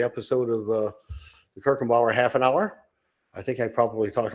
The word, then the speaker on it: Haffenhauer: It's not spelled like half hf. It's half an hour. One word. H a fen ha. Herkinbower half an hour.